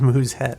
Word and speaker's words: musette: Musette. Pronounced Musette. The U is similar to the U in moon, and the E is a very light, almost silent. Okay, well, Vols Musette.